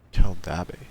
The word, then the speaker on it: Keldabe: Keldabe. That's how you pronounce it.